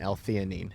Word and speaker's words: L-theanine: The ingredient, L-theanine. Is that how you pronounce it?